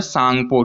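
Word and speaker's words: Tsangpo: तो चाइना में इसका नाम है सांगपो, टी साइलेंट है।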